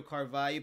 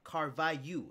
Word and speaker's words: Carvalho: and they announced it Carvalho. Is Carvalho the right way to say it? No. Damn. It's Carvalho. We in Portuguese, we the L and H have the sound yeah.